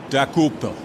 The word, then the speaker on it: Dokoupil: Dokupil. Dakupil. Not bad. You got the syllables right. Dokupil. Decopel, close. I'm Tony Decopel.